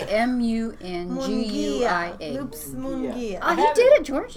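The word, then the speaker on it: Munguia: spell it for you. How do you say M-U-N-G-U-I-A? Loops Mungia.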